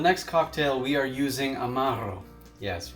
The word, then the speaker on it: Amaro: cocktail we are using Amaro yes roll your r's for this one guys uh Amaro is the